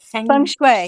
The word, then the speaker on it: feng shui: Um, feng shui, or is it Feng shui, yes. feng shui? That's perfect. Good pronunciation.